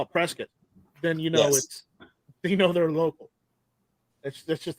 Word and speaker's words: Prescott: No, Ruger's based out of Prescott. Yeah. So. I think how do I know this? I'm from Arizona. I know. Yes. I pronounce it Prescott, but all you Arizonians call it Prescott.